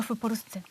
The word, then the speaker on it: w Polsce: Yeah, no, Japonka w Polsce. Japonka W Polsce. w Polsce. Yeah, because of P, so it should be f, pronounced f.